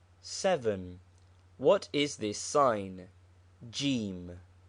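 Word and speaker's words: جيم: what is this sign Gene it is the letter G which is the English J but pronounced hard G in Egypt the initial form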